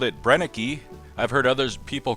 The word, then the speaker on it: Brenneke: this company in the past we've called it brenneke I've heard others people call it brenneke brenneke and many others but if you ask that german the pronunciation is brennick i'd like to thank a viewer named ross